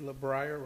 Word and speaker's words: LeBrier: LeBrier rhymes with Pryor.